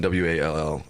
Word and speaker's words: Wall: Last name is pronounced a little bit differently because he's Canadian. So the way it was said, it was like whale or something like that. Sure. But it's Coulter and then Wall, and he is.